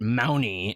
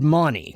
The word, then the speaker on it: Money: mispronounced your name again i've always pronounced it mounty and then on your video on your website i noticed that you pronounced it differently and then i just pronounced it wrong again right it's all right man happens all the time so it's money correct that's close enough i